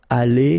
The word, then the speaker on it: allée: But then phonetically it doesn't exist, all right? So it's aller here and then aller here, the way you pronounce it.